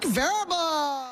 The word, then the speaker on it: Vrabel: And here are the New England Patriots in year one of the Varel era playing the Seahawks in Super Bowl 60. You got his name wrong again. Go ahead. Mike Verbble.